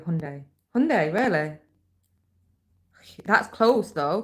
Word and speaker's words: Hyundai: It's like Hyundai the car. Will you say Hyundai? And always have. And then now they do an advert that says it's Hyundai. Hyundai. It's Hyundai. And that's how you say it.